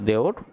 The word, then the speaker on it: দেবর: দেবর উচ্চারণটা আসলে দেওর।